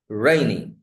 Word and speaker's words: rainy: Rainy. Rainy. It's not rainy.